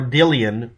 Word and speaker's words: Dilyana: The reason for that is the actual real pronunciation, according to one or two web pages that were willing to try to pronounce it from Russian, said it was Gillian or Gillian or Dillian. The G and D noise is kind of mixed together on purpose.